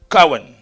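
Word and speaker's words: kohen: source de l'hébreu CEN certains écrivent ko h e n d'autres ko W e n mais ça se prend prononce CEN CEN la deè des choses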